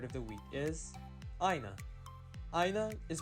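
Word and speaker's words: ʻāina: today's hawaiian word of the week is aina aina is pronounced and it means a land or literally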